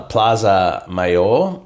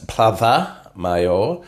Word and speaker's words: Plaza Mayor: told that I'm not allowed to say uh Plaza mayor it's plava mayor mayor see you in Spain yeah yeah CU